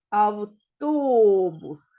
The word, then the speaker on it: автобус: складів тут три склади автобус наголос в нас на який склад припадає а він падає на другий склад Отже другий склад в нас є наголошеним автобус молодці діточки кількість звуків